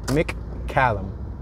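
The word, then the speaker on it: McCallum: 6700 block of McCollum Mick column I think that's the proper way to say it Mick as in Mick chicken Mick Callum so as I drive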